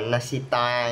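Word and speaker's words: 纳西妲: Nahida là phát âm tiếng Trung là Nasita nha.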